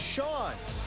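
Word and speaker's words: Chone: IT'S PRONOUNCED "SHAWN," THIS JUST IN.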